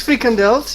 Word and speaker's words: frikandel: From Menno, we in Holland like frikandel. Don't know whether I butchered the pronunciation of that or not. Yeah, it's frikandels.